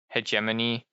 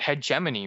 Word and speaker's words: hegemony: I mean, like it's just like hegemony. We oh, you know what? That's a good example. I bet you don't know what hegemony means. It's pronounced hegemony. It's not pronounced hegemony. It's hegemony. It's like a it's almost